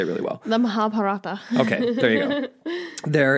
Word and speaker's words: Mahabharata: In the okay, you pronounce this for me. You say it really well. The Mahabharata.